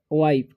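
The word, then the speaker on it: wife: अब इसे पढ़ेंगे हम लोग द वाइफ, ठीक है, जब लास्ट में ई रहे और सेकेंड में आई रहे, ठीक है, तो आई का उच्चारण हो जाता है आई, तो इसे वाइफ पढ़ेंगे।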